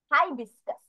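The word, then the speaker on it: hibiscus: হিসকাস তাহলে বানানটা দেখি অথবা আমরা এইচ আই দিয়ে হাই ও বলতে পারি হাইবিস্কাস হাইবিস্কাস খুব তাড়াতাড়ি বলতে হয় তাহলে এইচ আই হচ্ছে high B আই S this C ই এস হাইবিস্কাস ঠিক আছে এই হচ্ছে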